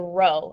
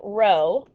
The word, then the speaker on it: rho: p, but it's italicized there, so it's a rho, a Greek letter rho, R-H-O is how we spell that.